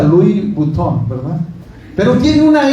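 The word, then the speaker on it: Louis Vuitton: anuncio no apagado que decía eh se pronuncia Luis Butón, ¿verdad?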